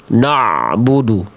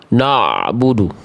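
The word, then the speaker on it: نَعْبُدُ: Jangan sampai dibacanya gini, Bunda. Na'budu. Na na'budu tapi na'budu na'budu na'budu tipis dia. Tipis dia bukan no na.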